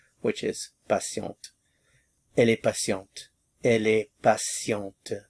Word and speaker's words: patiente: Elle est patiente. Elle est patiente. Patient, il est patient, elle est patiente. Patient, patiente. Notice the difference.